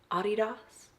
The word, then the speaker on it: adidas: blanket is from overstock this sweatshirt is adidas or pronounce correctly ah DDoS and we are going